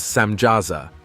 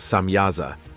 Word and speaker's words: Samjaza: The leader of these angels, known as Samjaza, sometimes pronounced as Samyaza, tells the Watchers that